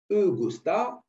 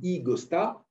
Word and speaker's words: e-Gosta: de ce site alors je vais me prononcer comme un bon français eurostar ensuite je vais mettre un petit peu d'anglais ygos tas et en portugais ça donne quoi i gotta allez c'est pas vous